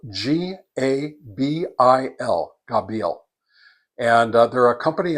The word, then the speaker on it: Gabil: For today, I'm going to be testing an antenna from a company called Gabil Radio, and that's spelled G A B I L.